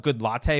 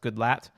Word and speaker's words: Goodlatte: opened with Chairman his his name is spelled good latte but I think it's pronounced Goodlatte but it looks like